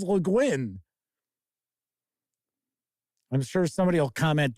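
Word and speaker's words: Le Guin: leguin i you know I've heard people pronounce it lein that is not right it is leguin I'm sure somebody will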